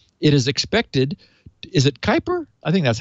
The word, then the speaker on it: Kuiper: That U in front of the I always kind of throws me off a little bit. It's like, wait a minute.